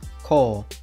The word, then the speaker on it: 校: history of these kanji today's kanji is school pronounced kol this kanji is taught in the first grade